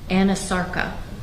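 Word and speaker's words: anasarca: she have a condition known as Anasarka? If I'm not mispronouncing it. No, you're pronouncing correctly. She did have a condition called Anasarka.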